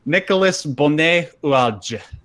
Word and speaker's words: Nicolas Bonnet-Oualge: Nicolas Bonnet-Oualge. That's actually how it's pronounced.